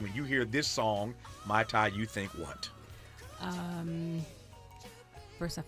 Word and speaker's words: Mayte: I'm gonna lay harder on that tay. Mayte.